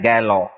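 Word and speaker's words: Gehlot: इसका प्रनंसीएशन क्या है इसका प्रनंसीएशन है गैलन गलो है ना ग लोट गहलोत रेस में साइलेंट होता है गलो अगला शब्द लेट हूं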